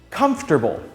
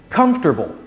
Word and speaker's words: comfortable: not four vegetable comfortable comfortable comfortable this chair i'm sitting on is really comfortable i don't feel comfortable in front of the camera although it has four syllables try pronouncing it with three syllables comfortable this one's for